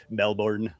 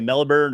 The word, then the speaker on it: Melbourne: consistently what Americans annoy Australians when they say Melbourne, because we say Melbourne or Melbourne. Melbourne. Because we want to pronounce all the letters in there, every one of them.